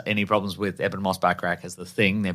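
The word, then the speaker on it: Bachrach: you say that back I'm saying backrack backrack like Bert backrack like Bert backrack uh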